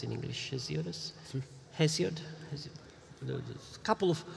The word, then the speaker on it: Hesiod: I would say everybody except Homer and Hesiodus. How do you pronounce in English? Hesiodus?